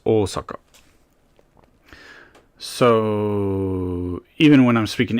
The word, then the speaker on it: Osaka: long and with oaka also the O it's not Osaka it's oaka so even when I'm